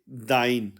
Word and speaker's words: dein: German में informal के लिए आप इस्तेमाल करेंगे दाइ दाइ यानी के तुम्हारा इनफॉर्मल तुम्हारा और दाइ के स्पेलिंग है अंग्रेजी में डी ई आई एन